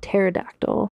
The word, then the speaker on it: pterodactyl: It's spelled with a P at the beginning, so it's like pterodactyl. And it's hard for me to not say the P. Ptolemy the 14th.